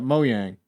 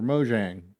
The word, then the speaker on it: Mojang: game studios game here you've got moyang or mojang however which way you want to pronounce it it's a real-time strategy